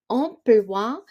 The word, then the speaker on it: emploi: So, remember that school schedule in French is un emploi du temps. So, temps, PS at the end, silent. Emploi, the OI at the end, we pronounce it as wa.